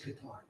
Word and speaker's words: Qatar: rooms in Qar and the proper pronunciation by the way is Qar. Cemetic words are accented on the back. Qatar or building tunnels so